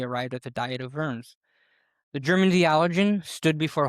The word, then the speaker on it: Worms: It's not pronounced Wars. No, it's Worms. Oh. Uh Germans pronounce W's as V's.